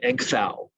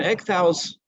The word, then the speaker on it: Ecgtheow: His name is pronounced, I believe, Ecgtheow. Forgive my Anglo-Saxon pronunciation.